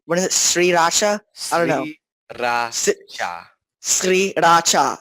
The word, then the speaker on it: Sriracha: Was the fact that also Sriracha is pronounced what is it, Sriracha? I don't know. Sriracha. Sriracha. It's like it's three full syllables, and you're supposed to say them like very separated.